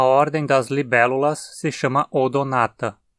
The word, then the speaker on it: Odonata: das libélulas se chama odonata a segunda sílaba é na e tem uma vogal longa então a nela que caiu assento como a gente faz